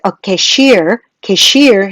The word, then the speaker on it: cashier: 그래서 외워두면 제일 편한 표현 중에 하나가 계산원이면은 a cashier라고 발음하죠. a cashier 해서 이쪽에 강세 들어갑니다.